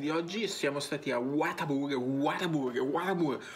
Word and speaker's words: Whataburger: oggi siamo stati a whataburger whataburger watab come lo pronunciano gli americani eh water Burger water Burger water water